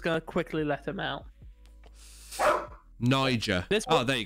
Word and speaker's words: Niger: Niger. This one, oh, there you go. It's pronounced Niger.